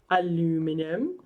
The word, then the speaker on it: aluminium: the lesson with al stands for aluminum or technically it's called aluminium if you're saying it correct but i insist if you're going to say it that way you have to say